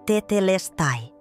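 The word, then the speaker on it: τετέλεσται: A pronúncia é tetelestai, com ênfase na terceira sílaba, e você pronuncia três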